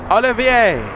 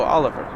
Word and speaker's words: Olivier: I'm an American, and I looked at that and I said, oh, Oliver. Olivier, please tell me I'm pronouncing that name correctly, or at least close to how it's supposed to be pronounced.